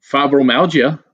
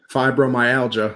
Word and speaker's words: fibromyalgia: Fibromyalgia. Boom. No. Oh, you were so close. That was close. How do you say it? Fibromyalgia, like how it's properly pronounced.